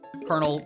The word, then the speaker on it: Colonel: Not like Gatling Pea, but Colonel Pult is like a joke about corn kernels, yes, but also kernels, C-O-L-O-N-E-L. I still never understood why kernel is spelled that way.